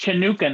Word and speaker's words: Chanukah: to me what am i saying wrong craig hanukkah hanukkah it's pronounced chanukah now i knew you're gonna say that you